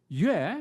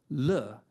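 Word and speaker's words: 乐: Or they're pronounced differently the character, Yue, meaning music is the same as the character Le, meaning joy. Music and joy in a homographic relationship. They look the same, but they sound different.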